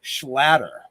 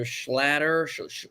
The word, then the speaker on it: Schlatter: it's like a like it rhymes with otter so it kind of